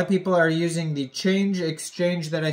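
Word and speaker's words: Chainge: connect your wallet to a DEX called change but it is spelled CH H AI NG g.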